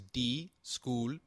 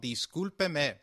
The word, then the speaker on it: discúlpeme: Discúlpeme is pronounced as discúlpeme, with the sound of pe like in pet and me like in met. Can you try it, please? It is called discúlpeme.